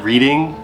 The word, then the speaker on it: Reading: They spell it Reading, but everybody says Reading.